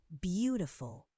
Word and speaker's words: beautiful: Beautiful. The first syllable is stressed. Beautiful.